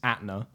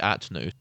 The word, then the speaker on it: Atna: Absolutely, this is Atna. Atna, okay. Yes. Now, I would have said Atnu.